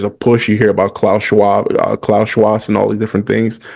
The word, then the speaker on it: Klaus Schwab: You hear about Klaus Schwab, and all these different things. I'm not even sure if I say his name right. Klaus. Yeah, you had it right the first time. Schwab. Yeah, Klaus Schwab.